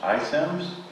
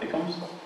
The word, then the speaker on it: iSims: And I currently work for that company in the middle, pronounced iSims. Not ICOMS.